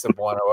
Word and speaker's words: Cebuano: But it is Cebuano. I've been saying it wrong my whole life.